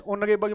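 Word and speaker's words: honorable: ही is dash ऑनरेबल man article बताना है। तो यहां पे क्या आ जाएगा? एन आ जाएगा क्योंकि इसमें एच साइलेंट है।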